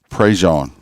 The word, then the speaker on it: Prejean: Prejean is how it's pronounced here.